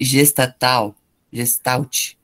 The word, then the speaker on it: Gestalt: Que a gente pronuncia Gestalt. Gestalt, é um Ok. nome alemão, Gestalt.